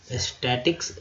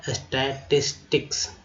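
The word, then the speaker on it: statistics: किया गया, स्टैटिस्टिक्स, देखिए स्टैटिक्स लोग बोल जाते हैं लेकिन शुद्ध होगा स्टैटिस्टिक्स, सांख्यिकी, साक्षर, लिटरेट, रेट,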